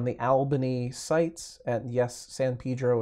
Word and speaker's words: San Pedro: Albanese sites and yes San Pedro is how they say it in Southern California I know it's ridiculous